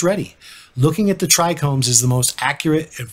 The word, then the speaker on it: trichome: word trichome as trichrome what I didn't notice till recently was that both of those terms mean something in Greek trichome being the anatomically accurate term meaning plant hair and my mispronunciation try Chrome meaning three colors in Greek so really